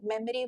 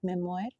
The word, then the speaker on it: Memoire: memory so and uh memory was very you know they see kind of a name so people nowadays people also like pronounce as memory not not Memoir it's basically Cafe Memoir and Memoir is a